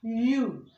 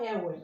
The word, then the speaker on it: you: This word is pronounced you, as in Y-O-U. It's not ewe or iwe as some people will pronounce it.